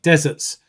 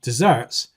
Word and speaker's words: desserts: When a student says, I like deserts rather than I like desserts, that really does change the meaning.